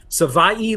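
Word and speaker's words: Savaiinaea: I think it's Savai Naya, but someone can tell me if I'm right. David Fronis says I'm right. Savai like Hawaii. That's what Jonah told us.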